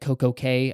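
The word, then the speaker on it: CocoCay: their perfect day at CoCo K I don't understand why they don't call it key because it's I think pronounced key but anyways uh perfect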